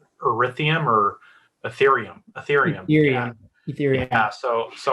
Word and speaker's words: ethereum: pay the net paycheck in erithium or ethereum i keep saying it wrong you make the net